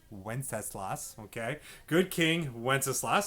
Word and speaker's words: Wenceslas: right now for good king wenceslas that is pronounced wenceslas wenceslas okay good king wenceslas sounds like this okay